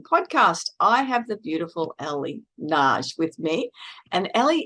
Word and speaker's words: Elle: It's Elle.